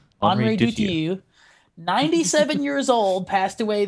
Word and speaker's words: Henri Dutilleux: since you claim to know exactly how it's pronounced? It's Henri Dutilleux. Henri Dutilleux, 97 years old, passed away this week, and